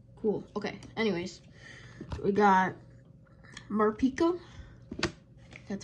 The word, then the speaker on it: Morpeko: We got Morpeko.